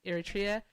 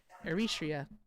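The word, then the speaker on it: Eritrea: um who is currently in Libya, but she's from um Iritria, Eritria. There we go. I said it right the second time.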